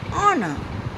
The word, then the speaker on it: honor: For example, an hour, an honor. Over here, in both the words, h is silent.